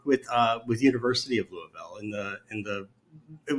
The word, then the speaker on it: Louisville: It's actually just two syllables. Louisville.